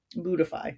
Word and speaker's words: Buddhify: Buddhify, that's how you say it. Sorry, I was reading that instead of, I know what that is. It's Buddhify.